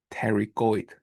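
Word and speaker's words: pterygoid: We don't spell it out. You don't pronounce it out. Later tergoid plate.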